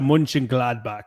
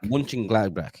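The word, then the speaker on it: Mönchengladbach: how do you say that say for Baria munching gladbach munching gladbach yeah munching gladbach uh have 17 points and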